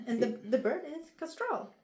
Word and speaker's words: Kastral: It's Castral, right? Yeah. And the the bird is Castrol.